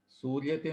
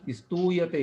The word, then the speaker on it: स्तूयते: यः स्मर्यते सर्वमुनीन्द्रवृन्दैः, यस्मर्यते सर्वमुनीन्द्रवृन्दैः, यः स्तूयते सर्वनरामरेन्द्रैः, यः सूर्यते सर्वनरामरेन्द्रैः, सूर्यते नहीं स्तूयते, है ना।